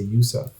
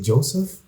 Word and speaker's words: Yusuf: what's your name and i would say yusuf and they would say joseph and like most people